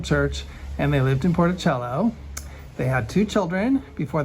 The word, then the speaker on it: Porticello: grandfather and great-grandmother leftist Lee actually he's from porticello porticello excuse me porticello I pronounced right Sicily and um the wife Maria